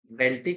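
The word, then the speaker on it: Bentinck: आपको ये ध्यान रखना, जो ये लॉर्ड विलियम बेंटिक हैं, ठीक है, बेंटिक या फिर बेंटिक, आप जो प्रोनाउंसिएट करना चाहते हो आप कर सकते हो।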